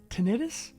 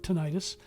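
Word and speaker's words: tinnitus: in the affected ear known as tentis tentis or tenius I pronounce it ttis and mine's Extremely Loud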